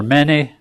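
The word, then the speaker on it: mene: And that stands for many. M-E-N-E is how we would spell it. Many.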